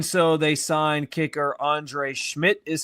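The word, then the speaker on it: Szmyt: But they they did part ways with defensive end Obo Okaranquo and in doing so they signed kicker Andre Schmidt is how his last name is pronounced.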